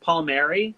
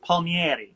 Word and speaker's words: Palmieri: know what it is it's not pronounced the way it looks it's it's just pronounced Palmieri but it used to be in Italy it would have been pronounced pol me auntie so that's why it's